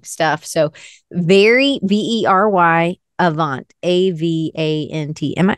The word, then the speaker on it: Avant: So very Very Avant, A-V-A-N-T. Am I saying that right? Yeah. Very Avant. It's like avant-garde, but I didn't like the guard.